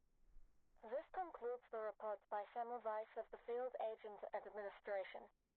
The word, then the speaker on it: Semmelweis: Semmelweis. Weiss V. W is pronounced as V in German.